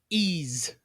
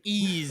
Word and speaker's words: Ys: the PS5 good job I believe it's pronounced he's I don't want to hear a lot of hate in the comments about that one that's why I'm just throwing that one out there ease don't get me started I worked at GameStop so like nobody knew how to pronounce those yeah I would have no idea I would have said wise also right yeah this is